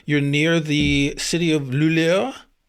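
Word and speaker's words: Luleå: I'm going to try and pronounce it correctly. You're near the city of Lulio. Yeah. Lulio.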